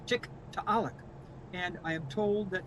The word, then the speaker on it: Tiktaalik: the native language it's tick to alec and i am told that you would pronounce all the letters so this double a is a oh it's a wonderful glottal stop so for all of